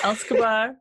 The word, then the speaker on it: Elskbar: How do you pronounce Elskbar? Elskbar.